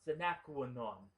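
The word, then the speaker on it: sine qua non: The guy works for Secret Service, so carrying a gun is a requirement, or in Latin, it's pronounced sinaquanon, which means can't live without.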